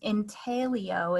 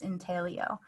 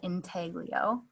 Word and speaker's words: intaglio: etching process itself um intelio is the original italian pronunciation of this process in talio it has been westernized with the g pronounced sometimes to be called integlio it's the same thing